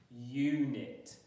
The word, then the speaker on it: unit: Unit. And look, in this word, it's making that U pronunciation rather than ooh.